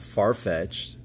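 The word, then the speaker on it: Farfetch'd: me help deliberate glorion far-fetched i think i asked this one time but do you guys pronounce that as far-fetched or far-fetched d growing up we said far-fetched d a deli bird where's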